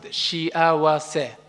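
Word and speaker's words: 幸せ: Today, I want you to know one Japanese word, shiawase. Let's pronounce it, shiawase.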